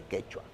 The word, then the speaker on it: quechua: Quechua. Eso es quechua. ¿Quichua o quechua? Quechua. ¿Por qué? ¿Cuál es la diferencia? Fue una mala pronunciación del término. No hay diferencia. Es quechua y quichua es lo mismo.